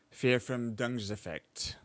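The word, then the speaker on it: Verfremdungseffekt: is pronounced as fear from dung effect. fear from dung's effect.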